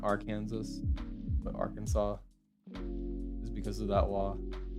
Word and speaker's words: Arkansas: pronounce arkansas right yeah is that why people pronounce it not our kansas but arkansas is because of that law just the spider